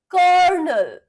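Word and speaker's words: colonel: Kernel, kernel, kernel, kernel.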